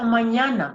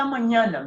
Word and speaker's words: mañana: So when you see that on top of N, it means it's going to be pronounced the nya sound. So hasta mañana means until tomorrow or see you tomorrow.